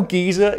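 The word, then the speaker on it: geyser: the world's gyers are in Yellowstone I know gizer is the correct pronunciation but to me the word gizer just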